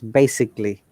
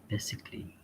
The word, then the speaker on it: basically: this this word this is not basically it's basically because a is not there basically yeah did you get the point one yes yes basically what about the other words physically very good